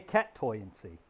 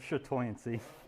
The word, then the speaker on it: chatoyancy: I mean, okay, cat toyancy. We'll pronounce the CH hard and make it cat toyancy. Or cat tancy. Wow. LOL said, LOL. Cat tanacy instead of shatoyancy.